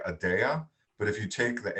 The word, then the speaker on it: Adaya: So I inverted the Y and the A, and then we just intentionally say you will pronounce this Adaya.